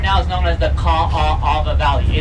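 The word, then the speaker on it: Kaʻaʻawa: Now this valley right now is known as the Ka'ava Valley. It's spelled K-A-A-A-W-A. There's so many A's in our name, we're almost Canadian, creation.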